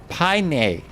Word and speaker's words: Paine: Paine means blue in the native Tahilic Anikinc language and is pronounced Paine. Paine. Not Paine.